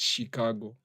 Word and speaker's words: Chicago: Watu wenye wanasema huwa wanapronounce Chicago as Chicago. The natives wa huko wenyewe, the natives they call it Chicago.